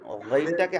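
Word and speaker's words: غين: জি, সেটা বলছিলাম যে আইন, তারপর হচ্ছে আইনের মতোই, যে আমরা গাইনটাকে আইনের মতন গ, গ, গ, গ, গাইন, গাইন, গ, এরকম একটু ভিতর থেকে গাইন।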